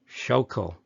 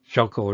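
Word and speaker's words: Schuylkill: things let me see it's the shulkel river shokul river and there's a gap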